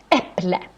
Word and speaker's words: äpple: Normally, the stress in Swedish is in the beginning of the word. Let's see, we have, for example, äpple, äpple.